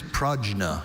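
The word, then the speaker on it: prajna: Are there any alternate pronunciations for the word? Only pragna.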